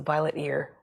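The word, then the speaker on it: violetear: I think of it as the violet ear because it's named for the purple splotch on the ear.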